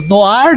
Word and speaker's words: noir: Temos até a sensualidade, né, que está relacionada ao gênero no ar, né, se escreve noir, né, noar, espionagem, sexualidade, mulheres bonitas, sexis, espiãs, tá?